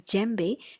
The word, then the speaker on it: djembe: So the concept of djembe, you pronounce it as djembe.